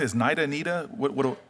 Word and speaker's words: NIDA: to start with the with nid am I pronouncing as naida Nita what what naida I want to start with naida um they've